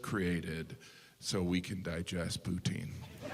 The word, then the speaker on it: poutine: Like, yeah, I had the kale poutine smoothie. It was delicious. Poutine. I know some of you pronounce it poutin, but you're still saying poo.